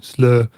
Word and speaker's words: Slötvå: sounds like the original how do you pronounce it i always pronounce it slow but if i was doing it in germany it would be slur yeah it's in swedish